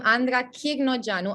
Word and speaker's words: Andra Chirnogeanu: of the tongue so i can't even pronounce my own name right so i'm not going to judge anyone from that for not pronouncing it right except maybe for corey